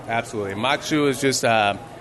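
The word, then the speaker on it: maque choux: Can you tell us the difference between the mac and cheese and the mac schwa? Yeah. I knew I pronounced it wrong. Absolutely. Mac choux is just...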